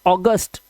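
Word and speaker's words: August: सर ये अगस्त नहीं है। ये तो हिंदी का शब्द है। अगस्त। इंग्लिश में इसको बोलते हैं अगस्त। ट ऑगस्ट ओ तो ए यू से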